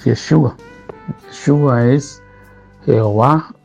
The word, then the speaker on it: Yeshua: Recordemos que Jesús es el nombre que nosotros pronunciamos en español, pero en hebreo es Yeshua.